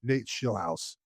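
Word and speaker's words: Nate Scheelhaase: Um it appears the Browns are going to hire Nate Schillhouse. Uh that that's the correct pronunciation.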